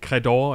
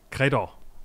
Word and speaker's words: Credor: og der med jeg igen svar skyld med udtalen nemlig credor Eller credor ja c r e d o r Ja